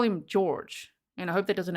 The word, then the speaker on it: Jorge: Well, Sarah Boone says that it's George. The court said it is George, so that's why I'm saying George. But I've heard that his pronunciation from his family may be Jorge. But that one I've deep dived, and it seems to be George. That's what she called him.